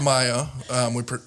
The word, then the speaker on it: MIA: It's pronounced Maya.